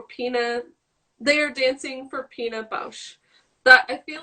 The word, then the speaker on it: Pina Bausch: Pina Bausch.